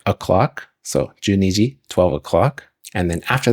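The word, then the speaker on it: 十二: And then ni is 2, so ju ni is 10, 2, and that's how you say 12 in Japanese. And then she says ji, which is like o'clock, so juniji, 12 o'clock.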